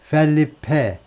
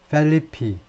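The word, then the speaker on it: Felipe: 마찬가지로 펠리페 리데 그러면 미국 사람들은 어떻게 읽느냐 하면이 스페인 사람들처럼 그런데 액센트가 있기 때문에이 삼음절 보이니까 두 번째음 액센트를 두고 리페리 라고 읽습니다 뭐 스페인 사람도 비슷하게 이두 번째 음질에 좀 비슷하게 액센 펠리페 스페인어와 비슷하게 읽습니다 단 일부 사람들은 영어식 발음으로 영어식으로 보자면 중간에 액센트가 있고 두 번째 제 마지막에 없기 때문에 펠리페가 아니고 펠리피 펠리피 좀 약한 모음 그 정도인데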